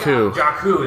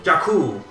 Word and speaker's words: Jakku: Jakku, that's right, they say it like 5 times. Everyone pronounces it like slightly differently. Jakku.